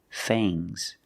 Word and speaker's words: fangs: sharp teeth are called fangs use a long a plus the nasal sound and a soft G fangs fangs and the S is making a zebra sound Z but it's soft fangs fangs the snake has fangs